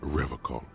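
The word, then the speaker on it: Revachol: logs at his feet he pronounces rivercon with a hard K unlike other people why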